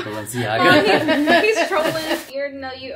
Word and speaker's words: Balenciaga: Balanzaga. That's how you say it, because I never knew how to say it. No, it's Balenciaga.